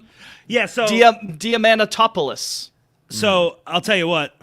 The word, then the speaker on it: Diamantopoulos: So Diamantopoulos.